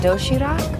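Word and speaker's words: 도시락: healthy variety of neatly packed food it's called dough sheeter yes am i pronouncing that right very good you can also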